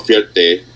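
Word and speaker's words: Fierté: And it's called Fierte.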